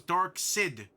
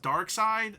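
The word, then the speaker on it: Darkseid: So that was dark sid.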